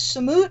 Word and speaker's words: Samut: I was like Wow samit sucks and they like no it's not Sam it looked up you know how to say sam and that's how you say it Sam it Sam is is samut the bad guy no